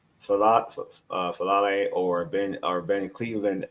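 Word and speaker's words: Faalele: M fal falle or Ben or Ben Cleveland at right guard. I prefer Cleveland over fal uh fal. Am I'm saying it right? Fallay.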